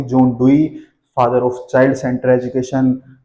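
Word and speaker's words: Dewey: DV, John डीवी बोल देते हैं कोई, लेकिन सही प्रोनाउंसिएशन क्या होगी, John डुई, father of child centre education, father of progressive education.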